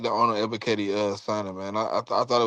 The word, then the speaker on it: Ebiketie: So the next guy we got is Arnold Escapit. Like, how you say his name, Smitty? Ebiketie.